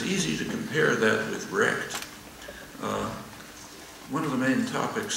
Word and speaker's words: RECD: really existing capitalist democracy recd for short and pronounced wrecked it said so to